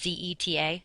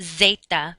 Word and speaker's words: zeta: You just pronounce it like an S. So, for example, how you say Z in Spanish is Z-E-T-A, zeta, not zeta, but zeta.